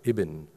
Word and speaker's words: IBIN: India Backbone Implementation Network, but we're pronouncing it IBIN, because IB in Hindi dialects in Uttar Pradesh means now, Abhi. Hmm? And IN is, well, let's get in and do it together.